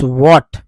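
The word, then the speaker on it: what: दैट्स, दैट्स व्हाट, व्हाट में H silent है, डब्ल्यू H silent है, ए को आ बोलते हैं, टी को टा बोलते हैं।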